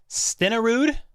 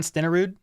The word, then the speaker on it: Stenerud: equal yards and TDS stenarood that's how you say it Jan stenerud that's a hard one it's the Norwegian name it's tough don't pursue